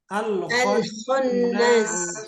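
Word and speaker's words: الخناس: Jadi dibacanya harus waswasi. Potongan yang ketiga. Al-kho bukan ha. Al-khonnas.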